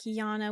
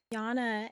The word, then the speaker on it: Jana: And it's spelled differently, but it's pronounced the exact same way. Like Jana would be Y A N A and then Jana Moon Goddess would be J A N A.